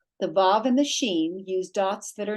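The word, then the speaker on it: שִׁין: So with the dot on the right, it's pronounced sh, as in sheen.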